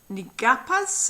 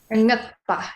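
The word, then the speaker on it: Ngakpa: So Drukmo Gyal was born into a family of Nigapas, is that correct? Ngapa, yes. Nyakpa.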